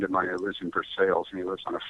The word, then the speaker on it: Versailles: But it's near a town called Versailles, which is Versailles, but they pronounce it Versailles in Kentucky.